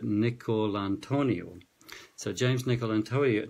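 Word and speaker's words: DiNicolantonio: pronounce his name right Nick call Antonia so James nickel and to--a Otoniel speak like an Italian to get that right he's saying how we're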